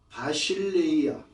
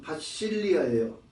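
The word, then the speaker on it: βασιλεία: 그런데 그 킹덤이라고 번역한 그 엘라 자체가 바실레이아 실질적인 발음은 바실리아예요.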